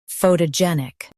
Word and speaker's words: photogenic: US says pho, UK says pho. Stress gen. Photogenic.